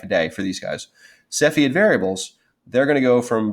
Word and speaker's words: Cepheid: be the Cepheid so I would say see Fiat but I say Cepheid stars so if you're in